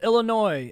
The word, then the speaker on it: Illinois: Like, for some reason in my memory banks is full knowledge of why the state of Illinois in the U.S. doesn't pronounce the S, where the original word came from and how it got to where it is now.